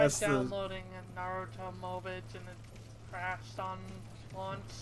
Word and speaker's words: Mobage: No, for real, I'm gonna start calling them Mobages now. Well, no, just the plural is Mobage, like garbage.